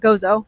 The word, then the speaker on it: Gozo: You say it like Gozo.